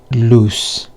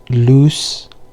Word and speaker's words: loose: The one with double O, it's loose with S sound, and the one with one O, it's lose with a Z sound. So it's loose and lose.